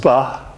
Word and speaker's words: sba: The eagle has the sound of ah, and the hieroglyph of a star is pronounced sba.